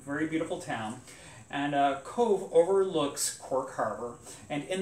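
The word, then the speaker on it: Cobh: code overlooking cork Harbor now Cove is spelled c-o-b-h yeah um just so just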